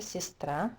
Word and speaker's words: сестра: A sister, сестра, again the stress is on a, this is и, это и, у меня есть сестра.